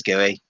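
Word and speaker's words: Guéhi: Is it Mark Gui? Yeah, Mark I think Gay. it's Gooey.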